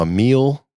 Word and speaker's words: Amyl: So Emile, and that's spelled AMYL, and the Sniffers.